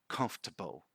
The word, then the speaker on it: comfortable: pronounce this one so this one we actually pronounce comfortable comfortable comfortable comfortable comfortable again find ways to